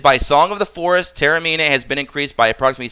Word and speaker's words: Tamarinne: If you look at Tamarinne's, Tamarinne, I always say Tara, I don't know why I do that. Sorry, I do apologize. Take a shot every time I mispronounce her name. Tamarinne, excuse me, has a built in, just like